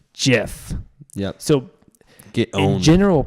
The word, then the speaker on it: GIF: exceptions of course but in general practice the G and Jeff is followed by an I so it's Jeff yeah so the old